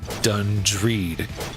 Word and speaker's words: Dungreed: the name feels odd done read if I say it like the G sound and dung then it sounds like dung and dung is poop there are a few